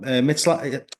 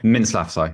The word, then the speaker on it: Mintzlaff: But he's got a good relationship with Oliver Mitzlaff. What's the CEO's name? I keep on getting his surname wrong. Mintzlaff, Mintzlaff, yeah, thank you.